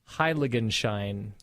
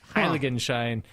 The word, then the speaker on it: Heiligenschein: But the word is, brace yourselves, Heiligenschein.